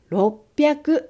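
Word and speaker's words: 六百: roku và hyaku, rồi yon và juu, rồi kyuu, và thêm cả quy tắc đọc vào nữa. Như vậy, chúng ta đọc là roppyaku yonjuu kyuu.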